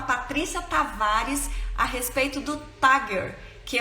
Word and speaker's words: Tagger: Estamos ansiosos aqui para a gente conhecer um pouquinho do Tagger. É assim que pronuncia?